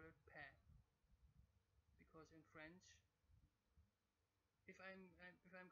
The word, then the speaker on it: paix: pa, they call it paix. Because in French, if I'm correct, otherwise you have to correct me. In French, this X would not be pronounced, and they make an A sound.